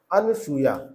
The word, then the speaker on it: अनुसूया: पूछी जा रही है अनुसूया अनुसूया नहीं होता है अनुसूया होता है अनुसूया सुया नहीं होता है अनुसूया की जो मात्रा है इसके यहां पे इस